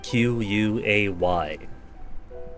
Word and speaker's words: Quay: It's a remarkable quirk of English that Q-U-A-Y. Quay is key.